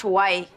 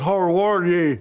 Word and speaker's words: Hawaii: It's pronounced Hawaii. I thought it was Hawaii.